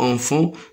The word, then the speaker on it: enfant: Le T et S, ils ne se prononcent pas.